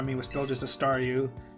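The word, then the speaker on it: Staryu: was still just a stareu. And I can never pronounce its name right. I always end up saying sound like saw you.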